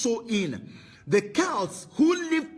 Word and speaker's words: Samhain: date back to the ancient Celtic Festival of Sam Hain pronounced so in the cows who lived 2 000 years ago